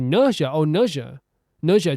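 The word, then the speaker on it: 哪吒: I went to see the animated movie Neza 2, pronunciation guide Nausea 2.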